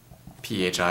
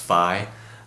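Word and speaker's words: φ: so this is a pH I it's pronounced Phi not really fils um people like to say fee but it's technically pronounced Phi so anyway 305 is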